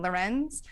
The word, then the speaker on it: Lorenz: Lorenz.